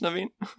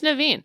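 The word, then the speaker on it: Naveen: king Undisputed yeah so don't say golden har don't say prince naven just say prince naven just say it like proun it like the word yeah just read it just read it like how the words are this is all injust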